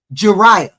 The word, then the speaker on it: Jeriah: Mariah rhymes with Mariah. Rhymes with Jeriah. Rhymes with Mariah. Just replace MA with J.